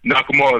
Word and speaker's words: Nakamura: then maybe um shinsuke or his I can't pronounce his name right Nakamura Nakamura there you go yeah he can come back